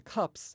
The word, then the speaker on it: cups: In cubs, the S is pronounced as if it was a Z, and in cups, it's pronounced as if it was an S.